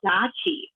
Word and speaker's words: deqi: but yeah, then there's something called Dachi, which if patients want to look that up, it's spelled DEQI.